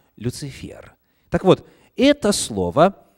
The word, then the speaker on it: Люцифер: приходилось встречать слова люцифер кстати согласно орфографическом у словарь ударений нужно ставить именно на последний слог не люцифер а люцифер так вот это слово